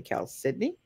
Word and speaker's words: chalcedony: right yeah okay so this is Cal Sydney sometimes pronounced chalcedony or chalcedoni it's actually Cal Sydney I don't know what